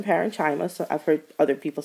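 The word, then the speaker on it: parenchyma: of cells are called parenchima I also had a professor that pronounced them parinama so I don't know which one you're familiar with but I pronounce them parenchima so I've heard other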